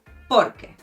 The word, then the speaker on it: porque: it's easier to follow: Porque Me gustan los gatos porque tienen mucha personalidad. Here there's a slight emphasis at the beginning, and you do say it fluidly, as it is one word: porque.